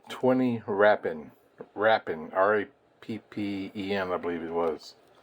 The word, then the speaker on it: Rappen: It's a Swiss coin, and it's called 20 Rappen, R-A-P-P-E-N, I believe it was.